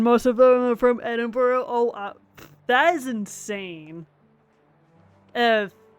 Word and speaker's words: Edinburgh: Hopefully, it's the most, hopefully it's the most of the bars in Edinburgh. Okay. Yeah, I would imagine that Edinburgh, if I'm pronouncing that correctly, that Edinburgh does have a lot of bars.